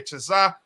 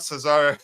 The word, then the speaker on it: Cesare: for that uh coach it's uh CH okay Chaz not Cesar CH Chaz return chaz's